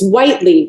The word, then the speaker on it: Whiteley: It's Whitley, right? Is how you pronounce Whitley.